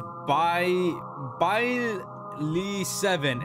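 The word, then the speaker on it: Byaly7: I think it's pronounced Byly7. It's spelled B-Y-A-L-Y 7.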